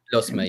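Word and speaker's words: Lusmagh: In the Leinster Intermediate Hurling Championship quarterfinals, Commercials from Dublin, Ratode from Meath, Lusma, if I pronounce that correctly, Liam, from Offaly. Lusma, yeah.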